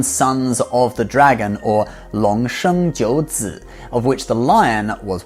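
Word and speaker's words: 龙: If there is one single mythical creature that is most associated with Chinese culture, it is the Chinese dragon, which is pronounced long.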